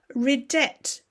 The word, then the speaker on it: ridet: Ridet, he laughs. No silent T like you might see, for example, in French.